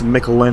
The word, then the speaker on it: Miquelon: Pierre, and I think it's Miquelon is how you pronounce it.